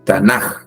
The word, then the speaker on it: Tanaj: el pueblo de Israel lo menciona con la letra j al final al final eh tanaj tanaj También se es una forma de pronunciar una forma alternativa con con j pero lo correcto de